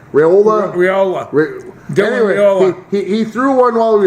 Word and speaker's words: Raiola: Raiola. Raiola.